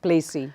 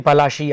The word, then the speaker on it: Palashi: Which we all know as Battle of Plassey. Yeah, it's actually Palashi after the Palash flower in Bengali, okay, the original word, and I make an effort to pronounce it the right way.